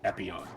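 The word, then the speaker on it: Epyon: reference and the name of the gundam is epione oh epio yep did he actually did he did he he confirmed it he confirmed it's a gun number one reference i'm sorry epione knight wait i feel inside not even my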